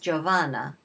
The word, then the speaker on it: Giovanna: Her first name is pronounced Giovanna, whatever, and however they say Seymour, I don't know, Seymoura, whatever.